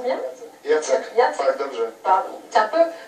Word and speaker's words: Jacek: Alors vous êtes Jacek, je prononce bien? Jacek.